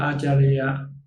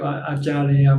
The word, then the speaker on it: Acharya: In Pali, it's called Acharya. In Thai, we call Ajahn. It's the same word, but different pronunciation. In the book of the biography of Acharya Mansi, this is the